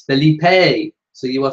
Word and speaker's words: Felipe: Jenny says it's Felipe.